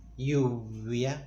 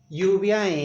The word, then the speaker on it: lluvia: As in the word rain, lluvia, lluvia, lluvia. It's a fricative sound, like we make a friction when we make both lips barely come together. Lluvia in Argentina we say lluvia.